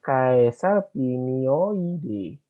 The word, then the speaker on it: Caesalpinioideae: A-nya nggak usah dibaca. Berarti ini Caesalpinioideae, Faboide.